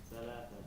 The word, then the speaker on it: ثلاثة: The tha, you cannot speak it properly, Arabically, only if you take out the tongue out of the mouth a little bit. ثلاثة. If it stays inside, it's wrong.